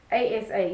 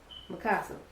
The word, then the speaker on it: Mikasa: And this is like how you pronounce or how you spell the name. It's Mikasa. Yeah, Mikasa.